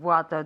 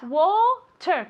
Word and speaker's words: water: How many bottles of water do you have? Water, como con una O, water.